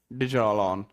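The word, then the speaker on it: Djallon: याद रखेंगे हां डी से शुरू होती है। फटा डी पर डी साइलेंट होता है। डिजोलॉन होता है आपका और यहां से निकलती है और ये कहां गिरती है सर?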